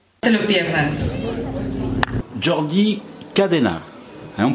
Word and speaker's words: Jordi Cadena: Jordi Cadena. Hein, on prononce comme ça en espagnol?